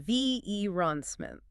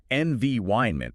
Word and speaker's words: environment: long E sound, and they stress the V on VE ronsment. It sounds clunky. It just stops the rhythm of the sentence. Correct. The stress in English for this word is on the second syllable, and the vowel changes to a diphthong. The I sound. It's NVYN. NVYment. It's almost like the word iron is in the middle.